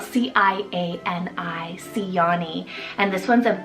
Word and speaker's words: Ciani: Second C option is Ciani, spelled C-I-A-N-I, Ciani.